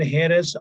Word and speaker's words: heiress: Note, the following words begin with a silent H, and they are especially words like hourly, heir, heiress, honor, honorable, honest, honestly. They must be pronounced as though they were no H at the beginning. As I already told you, the pronunciation begins with O.